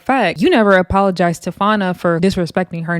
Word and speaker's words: Fania: Summer's like, yeah, good, because I wasn't going to give you an apology, Fana.